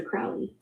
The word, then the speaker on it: Crowley: Alistister Crowley. Last name is pronounced like Crow.